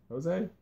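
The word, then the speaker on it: José: Jose? Yeah, Jose. Excuse me. When you asked me how to pronounce that, I thought you thought Farmer was Jose.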